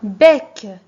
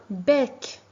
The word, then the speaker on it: bec: Par exemple, un bec. Regardez l'image en même temps. Un bec. Ici, je prononce E et. Pourquoi? Parce que il est devant une consonne prononcée.